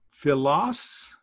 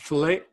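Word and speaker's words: φίλος: by the way uh Phyllis is a friend so notice this is not fillet oh if it was an O with a long O in the end then it would probably be a verb meaning a friend being a friendship love but Phyllis is just a noun it's got an OS any just means a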